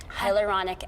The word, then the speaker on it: hyaluronic: How do you pronounce it? Hyaluronic? Hyaluronic acid.